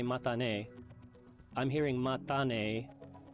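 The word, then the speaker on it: またね: Did I hear that correctly, or is this, again, matane? It's definitely matane with a clear T sound. Japanese doesn't have that TH sound, so you heard me say mata, and you're right on track with matane.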